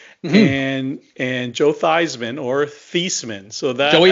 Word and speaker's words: Theismann: And they literally changed the pronunciations cuz Theismann for the Heisman.